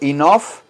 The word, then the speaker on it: enough: All the guest Enough Recuerden que enof esta gh de al final gh se pronuncia como la letra f la letra f de feo flor Fernando Florida en off inoff con